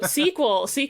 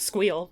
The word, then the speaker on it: sequel: So sequel, I would pronounce squeal because I would.